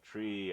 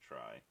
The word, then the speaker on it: trie: um per node uh tri was the middle syllable of retrieval r-e-t-r-i-e-v-a-l and so it was called tree as in retrieval but then they changed the pronunciation to try if you want us